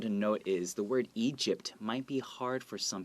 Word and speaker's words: Egypt: Well, first you can practice saying Egypt without the T. So Egypt, Egypt. And then when you're ready, add a T at the end and go Egypt.